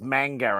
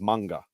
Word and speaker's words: manga: is sort of like no it's mango and it's like it's not if you actually speak to a Japanese person they'll go no it's manga I think manga is the right way to say it it is the right